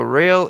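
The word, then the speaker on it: Roehl: Yeah, he's he's saying about inter modal, but it's pronounced rail, but it's spelled R O E H L.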